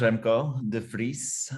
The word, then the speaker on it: Remco de Vries: jump in sure so my name is remco de frise which is difficult to pronounce in english but you did very